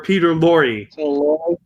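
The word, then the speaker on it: Peter Lorre: getting his name wrong his name is actually pronounced peter lor e or peter laurie wow all right that's fine yeah yeah i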